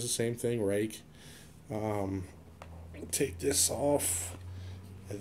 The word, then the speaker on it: Ruike: It's a company called Rake, and from the lettering, you would think it's pronounced Ruike, but it's actually Rake.